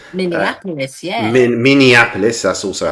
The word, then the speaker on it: Minneapolis: Monopoulos. Minneapolis.